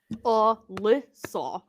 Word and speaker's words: Lissa: But When mine's 3 people say Ari, I'm syllables. just like, "Please don't." Lissa.